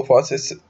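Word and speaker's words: fauces: इसको फॉसिस प्रोनाउंस करते हैं और ये बढ़ता है फेरिंग्स की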